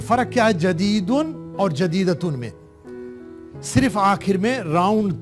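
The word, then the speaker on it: جديدة: جیم کے اوپر فتحہ، دال کے نیچے کسرہ، یا کے اوپر سکون، دال کے اوپر فتحہ اور راؤنڈ تا کے اوپر تنوین.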